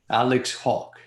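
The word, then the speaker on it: Hawke: yes we do alex how will you pronounce is as saying hawk alex hawk he's the immigration minister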